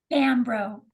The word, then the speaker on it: Bombrow: So how do we pronounce it? bro. Bambro.